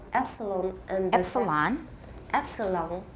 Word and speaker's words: epsilon: The first is based on the Greek letter epsilon and the Epsilon. Epsilon. Not long. Lan. Long. No, no. La n点的 n, lan. Long. Epsilon. Epsilon. That's an American pronunciation.